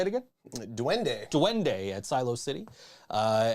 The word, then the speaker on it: Duende: dunder dune duende duende at silos yeah it's duende at silo city that's right that place is